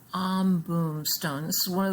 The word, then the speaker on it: Ambum: from the pacific and it is called the om boom stone a m b u m om boom stone this is one